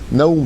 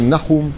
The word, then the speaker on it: Nahum: Naoum par exemple. En hébreu, c'est Nahum, il n'y a pas de Naoum.